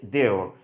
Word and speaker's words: they're: Contracted form করতে যাচ্ছি, সেটা হচ্ছে কি দেওর, উচ্চারণটি কী হবে দেওর, ওকে।